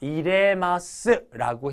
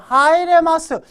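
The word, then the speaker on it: 入れます: 돼요 그래서 사과를 넣었습니다 이레마스라고 해 줘야지 2번처럼 하이레 마스 하루니까 이렇게 읽으면 여러분들 안 됩니다 오케이 자 그다음에 11번이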